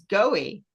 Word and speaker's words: Goewey: But our guest is Goewey. Did I say it right? Did I get it? Yep. No, I didn't. No, I didn't. I totally got it wrong. And you were being nice. Goey.